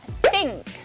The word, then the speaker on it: think: Okay, and unvoiced, we have think, Thursday, marathon, author, and bath. Okay, these are unvoiced sounds.